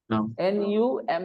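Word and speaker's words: numb: word nuu m b n u m b how will you num num not num it's not num it's num okay so when you have this MB together the B is silent when in the middle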